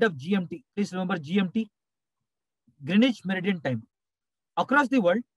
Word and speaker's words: Greenwich: meridian greenwich meridian time that's the normal pronunciation but i told you yesterday w silent greenwich meridian time from greenwich